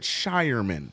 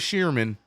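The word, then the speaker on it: Scheierman: Shyman. I finally learned it. Shyman. That's how you say it. I thought it was Sherman.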